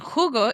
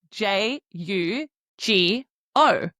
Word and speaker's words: jugo: I drink hugo. And hugo is spelled j u g o. And I didn't say jugo. I said hugo because we know that the j sound makes a h sound in English.